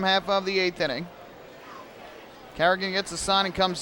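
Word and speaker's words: Carignan: That first N, though, is silent, so it's like it's not even there. Carrigan.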